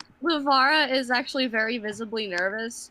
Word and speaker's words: Livara: Sterling is suspicious of Marcel, and also oh shoot, how do you pronounce her name? Livy, Livara. Livara as well, because she seems touchy feely.